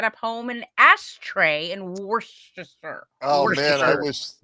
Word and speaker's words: Worcestershire: it's Worcestershire. Yeah. It is Shire. You do say the Shire part over there. So You do? I thought it was just Worcester. Yeah, Cester is pronounced stir for some reason.